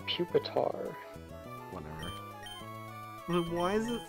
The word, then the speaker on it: Pupitar: puetar it's called reer right right it's pronounced Pupitar whatever but why is it name reier bookor